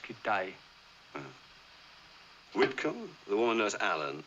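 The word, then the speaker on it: Kitaj: Kitage. No, it's pronounced Kitay.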